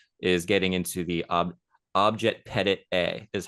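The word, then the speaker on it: objet petit a: again whereas analysis is getting into the OB object Pettit a is how it's pronounced a lot of people don't know that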